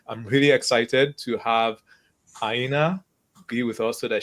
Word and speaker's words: Aina: actually funny because, like, normally, like Europeans or like African descent people, they get it correctly even without me pronouncing it, Aina. But in North America, they see A as like and they call me Aina.